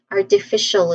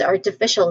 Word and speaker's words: artificial: And lastly the trend of today artificial intelligence or AI. It is smart machines that think. Okay we're discussing the field of creating intelligent machines or referring to specific AI technologies. All right that's artificial intelligence.